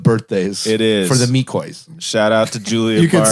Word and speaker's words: McCoy: The McCoy. Is that the proper pronunciation, by the way? It's Mikoi. Okay. You've been saying it wrong.